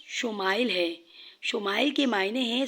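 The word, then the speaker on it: ישמעאל: سنا دی گئی۔ عبرانی زبان میں اسماعیل کا تلفظ شمائل ہے۔ شمائل کے معنی ہیں سن، اور عیل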